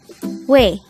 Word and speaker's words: 왜: word number 88 way way this is pronounced as a one-syllable word pronounce it with me